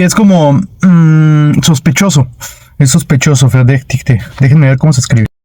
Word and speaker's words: Verdächtige: Recuerden que esta suena como E. Verdä, CH, verdäch. La CH suena como G.